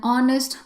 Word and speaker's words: honest: In certain cases, you have words with silent h sound like an honest player. So, the word starts with h but the sound starts with o.